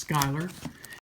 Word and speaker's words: Schuyler: a New King James Version from Schuyler Bibles, Schuyler, but I'm told it's pronounced Schuyler.